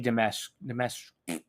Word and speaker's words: Dimitrescu: No, well, you don't pronounce the SCU. The fuck? It's Lady Dimitrescu.